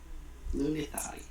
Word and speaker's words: Lunitari: Did I pronounce it like that? Yeah. Lunitari.